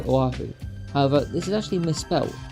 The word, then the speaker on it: Oahu: screen will just say Oahu however this is actually misspelled being spelled o h a u and not Oahu it's spelled correctly in